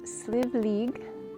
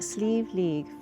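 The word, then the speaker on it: Slieve League: I should know better. I've been trained to say that and that it's still very tricky to say, especially the way it is spelled. The Sleeve League Flag Stone Mountain.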